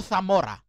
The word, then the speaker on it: Zamora: um uh pronounced the name uh father hinto Zamora I uh pronounced it as hinto Thora and I and you also noticed uh somehow